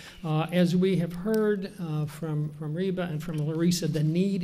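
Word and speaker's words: Rheba: My first name is Reba. It's like Reba McIntyre, but it's spelled R-H-E-B-A.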